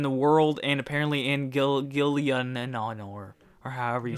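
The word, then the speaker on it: Gielinor: It's everything's crazy in the world and apparently in Gillianor or however you say it. Gillianor, is that how you say it?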